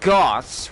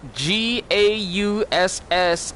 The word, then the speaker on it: Gauss: his name is not Goths regardless of how many times miss Ford call us it GA USS is gauss gauss like johann strauss gauss you don't pronounce